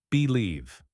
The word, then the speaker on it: believe: strong mindset believe Bel the stress is on the second syllable believe try believe in yourself